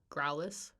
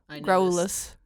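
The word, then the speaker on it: Graulas: Growlus. Interesting. Growlus. I always I give the U a little bit more of oomph. Growlus. Yeah, I noticed. Yeah. Like a growl, like a growl.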